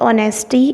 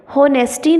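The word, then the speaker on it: honesty: है Dolvi destroys his ऑनेस्टी and fair deal in word होनेस्टी नहीं है इसको और टेस्टी पड़ते हैं एक साइलेंट है तमाम लोग जिन्होने तिजारत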